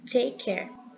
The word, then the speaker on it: take care: de como se fosse uma só palavra tá take Care e isso aconteceu para que fluir-se melhor a